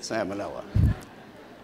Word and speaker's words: salmonella: wasn't salmon and that's why i call it salmonella so so anyway using classic biochemical and serologic